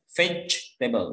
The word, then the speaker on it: vegetable: tepat membaca dan jadi kalau baca vegetable itu bacanya fetch label jadi juri nggak usah dibaca yeah this page